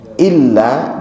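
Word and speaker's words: إلا: Jadi ini berkenaan dengan pengucapannya jangan mengabaikan tasydid ketika itu memang bertasydid. Contohnya pada tadi illa dengan ila itu kebetulan ada illa yang artinya kecuali lailahaillallah illallah atau illallah.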